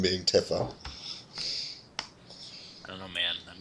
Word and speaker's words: Tifa: It's pronounced Tifa.